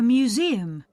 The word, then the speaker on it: museum: a building okay a museum museum mhm yes museum yes a museum so the stress is on the E museum museum okay